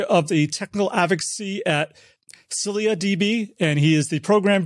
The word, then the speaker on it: ScyllaDB: But it's ScyllaDB, kind of like silly, but with an A at the end.